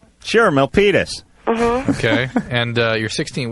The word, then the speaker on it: Milpitas: Let's just quickly talk to Melanie, because this is, first of all, I can't pronounce the town you're from. Where are you from? Milpitas. Sure, Milpitas.